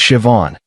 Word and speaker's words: Siobhan: Her name was Siobhan, pronounced as Siobhan. She taught me after I butchered it three times.